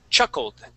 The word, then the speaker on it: chuckled: All right, so we want to pronounce a D there at the end. Okay, chuckled. Chuckled. Chuckled.